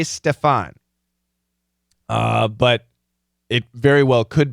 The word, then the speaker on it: Stefan: If I see a name like this, if I'm reading Stephan, personally, I tend to say Stefan, but it very well could be Stephen.